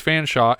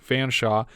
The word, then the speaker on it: Fanshawe: I know now that it's Fanshawe and not Fanshawe because I can see a newspaper on the table where her surname is spelled out.